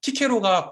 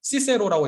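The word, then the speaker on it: Cicero: 왜냐하면 키케로가 고전 라틴어 발음이고요. 시세로라고 읽는 게 그 이제 고전 그 교회 라틴어 발음이거든요. 우리는 키케로가 더 익숙하죠.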